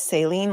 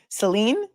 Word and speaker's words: Saline: Oh, it's Sine. Like Selene Dion. Oh, Seline. Really? They called it Seline. Seline County.